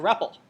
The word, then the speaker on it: REPL: you're being me asking yourself well what's a rebel and that is how you pronounce rebel by the way you probably if you use